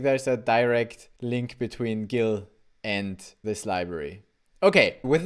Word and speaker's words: Gill: it's called Gil but I Googled the pronunciation and we're talking about the fish so it's not chill it's Gil why is it called